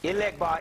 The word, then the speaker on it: Elegba: That's Elegbar in Yoruba, Legbar in Vodun, and you ask them for financial lead.